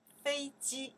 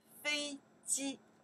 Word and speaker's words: 飞机: This is ji, and together we pronounce ji, right? Fei ji, okay. Fei ji, okay.